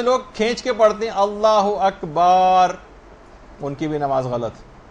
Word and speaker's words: اللہ اکبر: مثلا اللہ و اکبر، اللہ اکبر ہے، اللہ و اکبر نہیں.